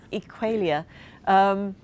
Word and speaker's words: Equalia: Yeah, which is, by the way, something I deal with in my, let me pronounce it in the BBC way, Equalia.